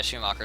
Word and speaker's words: Schumacher: How do you pronounce it? Schumacher? Okay, Schumacher, sorry.